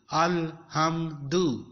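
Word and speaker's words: الحمد: Anyway, we are to pronounce it here with zabar. Alif zabar lam al, he zabar mim ham, al ham, dal pesh du, alhamdu, alhamdu.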